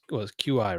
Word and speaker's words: Qi: had a what's the pronunciation key qui charger chi Chi's oh my so I had a G charger on a regular which is Qi right yeah on a regular battery in a